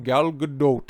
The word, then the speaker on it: Gal Gadot: So that's how you pronounce her name, Gal Gadot.